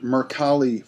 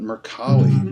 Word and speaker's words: Mercalli: your colleague and actually a Italian pronunciation because it's an Italian name and Mercalli was a seismologist and